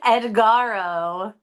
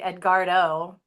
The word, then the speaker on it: Edgardo: Yeah, Edgaro. I'm probably pronouncing that wrong. There's a D. Yep, there's a D. Edgardo and Edgardo.